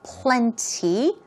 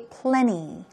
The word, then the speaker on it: plenty: moving on to plenty plenty stress goes right here now it's your choice you could stress that t Sound by saying plenty or make it very soft okay and say plenty plenty more like a p l e n and y so Plenty or plenty they both work means enough much what